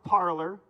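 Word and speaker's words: Parler: you can follow me on parlor yes it's pronounced parlor that's weird that's parlor and now i'd like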